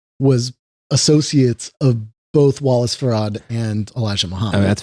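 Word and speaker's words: Fard: There's also like um this This is pronounced Farad.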